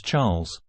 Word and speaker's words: Charles: dear husband she replied Charles pronounced the French way as Charles looked like typical Euro